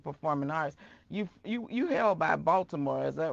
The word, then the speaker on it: Baltimore: but I use the T, but I know the D is out there. I can say Baltimore if I need to.